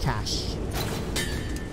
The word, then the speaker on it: cache: How do you say cash, yeah? Like C-A-S-H, cash. C-A-C-H-E, cash, right? Same the same way, right?